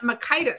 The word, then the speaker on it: McKitis: Jan McKitis. See, I'm going to say your name right because it rhymes with Titus.